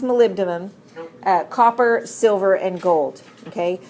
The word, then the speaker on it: molybdenum: these chromium molybdenum or as you learn to spell it Molly B denim that's actually pronounced molybdenum copper silver and gold